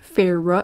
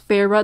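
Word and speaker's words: Feyre: qui s'est développé entre Faro j'ai appris c'est un peu tard pour apprendre que ça se prononce Peyrat dans le dernier clip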